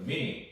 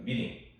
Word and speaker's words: meeting: 그래서 이게 T가 D로 발음이 전환이 됩니다. 그래서 meeting 이렇게 되는 거예요. meeting.